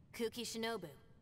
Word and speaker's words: Kuki Shinobu: Kuki Shinobu. Nice to meet you. Oh, that's how you pronounce the name. Kuki. So I was kind of right.